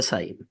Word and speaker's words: sign: কে তে আছে নাই, ডাব্লু তে রাইট, বি তে কম, এল তে ওয়াক, টি তে লিসেন, এইচ তে অনেস্ট, জি তে সাইন, পি তে সাইকোলজি, এ তে অটম, এন তে অটম, আর সি তে আছে মাসেল।